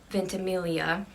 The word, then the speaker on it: Ventimiglia: totally butcher it but milo ventimiglia i believe the g is silent and he's lomas crawley